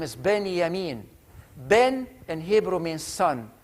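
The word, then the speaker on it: בנימין: benjamin means in hebrew is that j is pronounced at y so his name is benny amin ben and hebrew means son yamin is the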